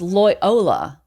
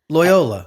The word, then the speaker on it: Loyola: Kind of like Toyota. I say that because it was Lyola. Lyola.